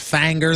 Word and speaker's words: Finger: Didn't somebody say it's pronounced Fanger though? Yeah. Well, but that's with the Tennessee twang.